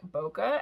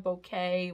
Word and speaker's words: bokeh: in so i can just grab this like bokeh and that would be really cool bokeh bouquet whatever you spell that b-o-k-e-h and that gives you like the